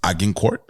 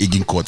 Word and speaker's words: Agincourt: And so there's this one that it's Agincourt. Yeah. Fam, I know that me Animina. When we pronounce that thing, I would have said aging court. Which is like, I would have said aging because it's aging.